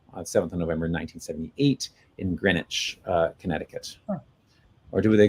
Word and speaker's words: Greenwich: of November 1978 in Greenwich uh Connecticut or do they do they call it green witch no Greenwich it's they still call it Grech here where I grew up